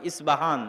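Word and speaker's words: Isfahan: আজও ইরানের মধ্যে ইস্পাহান নামে সেই নগরী আছে। আমরা প উচ্চারণ করি ইস্পাহান, আরবিতে এটা উচ্চারণ হয় না। আরবিতে হয় আল আসবাহানি, বা উচ্চারণ হয় ইসবাহান বা আসবাহানি।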